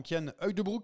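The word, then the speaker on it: Cian Uijtdebroeks: Du côté des satisfactions, bah on a un autre Belge avec le souriant Kyan Heugdebroek, c'est comme ça qu'on dit. Alors bonne prononciation, professeur, professeur.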